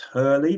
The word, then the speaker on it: Hole: But Joe Nesbo's crime books around Harry, I think it's pronounced Hurley, but it's spelled Hole, Hole.